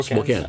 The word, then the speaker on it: Spokane: a church in I don't know how to pronounce it, Spokane. Yeah, Spokane.